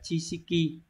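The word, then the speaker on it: 知識: Đúng không các bạn từ này đọc là chiiki nghĩa của nó giống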